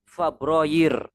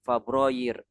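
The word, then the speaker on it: فبراير: Kalau ditulis dalam bahasa Arab cara bacanya yanair. Kemudian Fabroyir yair Fabroyir yair Fabroir.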